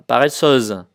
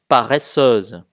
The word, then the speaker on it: paresseuse: Thì bây giờ là giống cái thì chúng ta đọc là paresseuse, paresseuse.